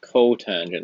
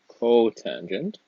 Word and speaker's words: cotangent: And the last one is cotangent. That's just cot. That's going to be 1 over tangent, or tan. And again, that's pronounced cotangent.